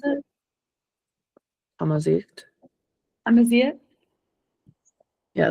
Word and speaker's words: Amazigh: Amazit. Amazigh? Yeah, there's like a little throat action in it. Amazigh.